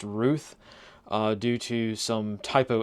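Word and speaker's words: Routh: Wesley Ruth or Ralph I highly suspect that is actually pronounced Ruth uh due to some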